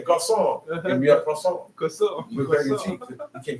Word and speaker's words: croissant: You don't want to eat croissants. Croissant. That's how they're croissant. You gotta say it like that. That's how the people in French, they say French words.